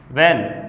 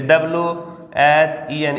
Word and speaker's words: when: इसको पढ़ रहा है व्हेन, यानी इसमें H को साइलेंट कर रहा है, ये व्हेन नहीं है। इसको कई स्टूडेंट हैं वो ऐसे पढ़ते हैं, जैसे WHEN, इसको ऐसे पढ़ते हैं व्हेन, तो ये गलत हो जाएगा।